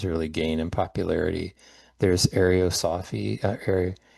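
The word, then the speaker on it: Ariosophy: There's arosophy arosophy that's how you pronounce it in um Germany which would later influence the the Nazis.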